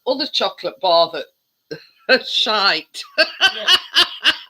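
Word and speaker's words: Shyte: in it yeah and it's called shite it's not it's spelled s-h-y-t-e but yeah we're the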